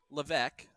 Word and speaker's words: Levesque: But Ed Levesque is how you pronounce his name, now that we know that.